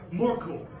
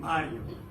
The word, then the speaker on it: Mario: angry like um Mark or morco Mor where the did Maurice came from right I am Mario I love my name especially when someone who is Italian pronounces it correctly it reminds me of